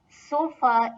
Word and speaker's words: Sofa: So both these words have been taken from the English language, and although couch is pronounced as it is in German, but sofa is pronounced Sofa.